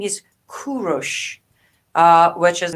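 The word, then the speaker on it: کوروش: the correct name is kurosh uh which is the name of the king of iran cyrus the great so the proper farsi pronunciation of it is kurosh not cyrus but cyrus sounds just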